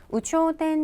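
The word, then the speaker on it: 有頂天: 일단 발음을 주의하셔야 될 게 있을 유자가 유가 아니라 우라고 읽혔다는 거를 좀 주의해 주시고요.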